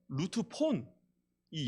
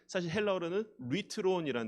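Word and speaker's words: λύτρον: 단어입니다 여러분의 그 책에는 루트 폰이 영어로는 뤼트론이라는 단어입니다 저 피처럼 보이는게 알 발음이거든요 리트론이란 단어인데이 대속물이라는이 단어가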